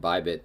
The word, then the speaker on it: BYBT: What I have noticed is that this BYBT, so it's like Bybit if you're spelling it phonetically, this is accurate.